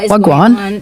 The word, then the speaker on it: wagwan: Take the phrase, "What's going on?" which in the Jamaican accent is wagwan. This sounds like one syllable if spoken fast.